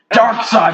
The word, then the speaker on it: Darkseid: Darkseid. Coming We're at gonna you with spell it so it sounds like Dark Seed.